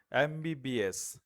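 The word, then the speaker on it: MBBS: আচ্ছা নেক্সট হচ্ছে দেখো এমবিবিএস আমরা একটু আগে দেখেছি যে এমটা উচ্চারিত হওয়া হওয়ার ক্ষেত্রে প্রথমে কি আছে? ভয়েল সাউন্ড আছে। ফলে এখানে এন হবে। যদিও এম হচ্ছে কনসোনেন্ট কিন্তু এন হবে।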